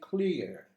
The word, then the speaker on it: clear: the table listen carefully i say clear i don't pronounce the final r you are not supposed